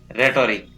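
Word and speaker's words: rhetoric: इसी प्रकार RH साथ में हो तो H का उच्चारण नहीं होता है, जैसे राइम, रिदम, रेटोरिक।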